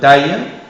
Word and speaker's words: taille: Attention aussi à la graphie AI2LE, AI2LE, prononciation aïe, position finale et dans des mots comme taille, médaille, faille, et pour les terminaisons